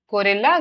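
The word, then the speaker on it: guerrilla: So, gorilla gorilla. Both are pronounced the same.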